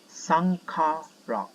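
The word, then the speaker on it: Saṅkhāra: And in Buddhism, there is one word called Shankara, and it's pronounced as Sankhara.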